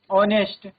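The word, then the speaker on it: honest: Words beginning with the mute H take an नॉट अ। तो जहां पर H mute रहता है उनके साथ आर्टिकल एन आएगा। ना ही कि हम आर्टिकल अ का यूज़ करेंगे। For example year ऑनेस्ट honour are honorary ऑनेरेरियम ठीक है ये वर्ड्स क्या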